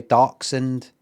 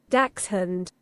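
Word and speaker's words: dachshund: D no doen doen American say darkend English say Dax hund Dax hund H uh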